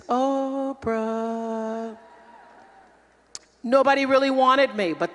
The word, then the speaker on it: Oprah: It was really Orpa, but nobody knew how to spell it, and the P got put before the R on the birth certificate, so then it became, I guess it's Oprah.